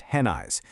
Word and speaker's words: Haneish: And yes, that's pronounced Henna-eyes.